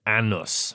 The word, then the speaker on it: Anus: And you said it's spelled A-N-U-S. Anus, but has been pronounced Annus.